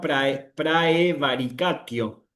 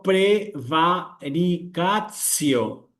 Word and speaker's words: praevaricatio: Bueno, mucho cuidado acá porque no tengo que decir para, si insisto, si estoy leyendo en pronunciación eclesiástica, no tengo que decir acá praevaricatio, sino prevaricatcio, que es la prevaricación, digamos.